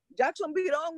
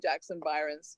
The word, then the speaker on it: Jackson Byron: And he goes, oh, Jackson Birong, you mean, so Jackson Birong. And everybody just cracked up because the poor guy, obviously mispronounced. But I think a lot of people ended up calling Jackson Byron's Jackson Birong, Yes, it's just a mispronunciation.